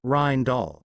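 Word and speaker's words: Rijndael: FIPS 197 Rainall pronounced as Rhin Doll designed by Vincent Ryman and Joan Damon.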